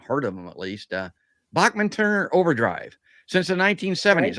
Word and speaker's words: Bachman: He looked into the camera and said, "My name's not Bachman, it's Bachman."